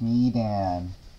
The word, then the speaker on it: Medan: It's pronounced Medan.